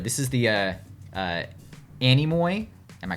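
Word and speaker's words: Anemoi: actually checked on that I was was pronouncing it enemo it's Animo um anoy is a Greek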